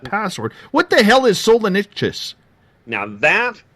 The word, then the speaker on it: Solenichthyes: It's spelled SOLENICHTHYES. Solenictus.